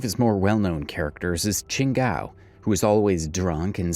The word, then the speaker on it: Chingao: Hey, look, it's actually spelled kind of right. Oh wait, no it's not, because where's the W? It's Chingao. Obviously. I just say Shingao because, you know, that's how you say it.